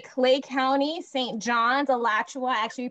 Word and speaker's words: Alachua: John's, Alachua, actually pronounced that correctly, for little Broward, yes.